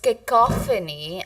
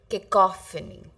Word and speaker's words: cacophony: So, kicophony, it's pronounced as kicophony. And the meaning of this word is harsh or unpleasant noise. This is the answer. This entire answer is the meaning of the word kacophony. Cacophony.